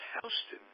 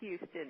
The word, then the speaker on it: Houston: the world of this the proper way of pronouncing it is Houston like they do in New York on Houston Street they like the old the same its Euston and yeah but it's Texas